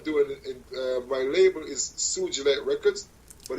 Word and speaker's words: sugilite: rky services i see i see yeah yeah sugilite now see there you go i print always pronounced it wrong in my mind i would have gotten sugar light sugar light a quick uh story surgery light